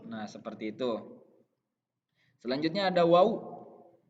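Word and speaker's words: واو: Selanjutnya ada waw. Harus diucapkan secara jelas. Wow. Ininya mulutnya lebih mengecil ya.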